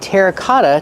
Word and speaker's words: terracotta: You can use the word terracotta to talk about these pots. Pronunciation, terra, cotta. The double T makes a fast D. Cotta, cotta. These are terracotta pots, or you can call them clay pots.